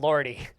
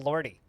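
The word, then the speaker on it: Lorde: you know the wonderful lordy the fantastic wholesome christian rock band lordy i think it's just pronounced lord isn't it i don't know i've always called them lordy which i'm pretty sure is wrong but you know who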